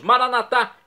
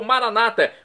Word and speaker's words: maranatá: E agora eu clamo do aramaico, dialeto de Jesus, maranatá, como dizemos nós católicos, ou maranata, como dizem nossos irmãos separados das comunidades evangélicas ou protestantes. Não importa a pronúncia, o significado é o mesmo.